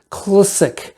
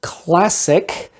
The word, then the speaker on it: CLSC: made by this company clsc classic or the way they want you to pronounce it classic it's the most boring